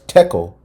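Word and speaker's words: תקל: collider, LHC, that formed a single word in the ancient Hebrew language, thachal, pronounced as tekel, and basically means you have been weighed on the scales and found deficient.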